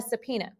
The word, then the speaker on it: subpoena: a trial okay so first we've got a subpoena and i know that's not how that word looks but that's how it's pronounced so a subpoena is